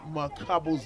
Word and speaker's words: Mukabo: There's a way I want to pronounce Tanda Onyele Mukabo's name with a click sound, but unfortunately it's not coming off, but that's how it's supposed to be pronounced. It's better just pronounce the Zambian way. It's Mukabo.